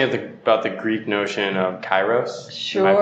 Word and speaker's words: kairos: But can you talk to me about the Greek notion of kairos? Sure. Am I pronouncing it right? Yeah, kairos.